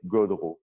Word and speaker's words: Gaudreault: In French, people say Gaudreault. Gaudreault.